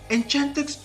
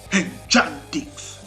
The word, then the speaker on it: Enchantix: And the Italian pronunciation, oh my god. Enchantix. They sound like warriors shouting their battle cry.